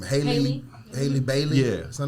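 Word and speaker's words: Halle Bailey: How you pronounce her name? Haley Bailey.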